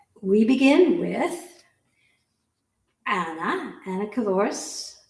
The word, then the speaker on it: Cavouras: Anna Kavoris rhymes with dinosaurus.